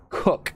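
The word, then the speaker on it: Koch: Hague Alexei Alexei Alexei of Cheney and Christina cook is how you pronounce her last name they took an expedited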